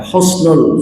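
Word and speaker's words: حسن: Sebab ada orang yang agar ingin fasih begitu, husnul pakai kho gitu kan, husnul pakai kh. Padahal pakai ha ya, husnul pakai ha.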